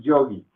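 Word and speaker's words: योगी: Porque esta es la O corta y esta es la I con tilde.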